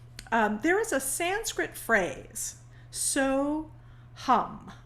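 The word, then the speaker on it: Soham: is a sanskrit phrase so hum it's spelt in in english s o h a m pronounced hum which means i am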